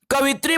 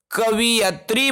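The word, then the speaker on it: कवयित्री: कवित्री बोल दोगे आप तो वो सीधा लिख देगा कवित्री, है ना भाई। लेकिन जब आप सही उच्चारण करोगे, कवियत्री बोलोगे उसको, तब वो लिखेगा कवियत्री।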